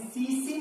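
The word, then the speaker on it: tsetse: Exam का बहुत ही favourite and ये हमेशा आप याद रखेंगे, सीसी मक्खी है, एक्चुअली इसकी स्पेलिंग जो होती है TSE, एक्चुअली जैपनीज नेम है और इसीलिए टी यहां पर साइलेंट है।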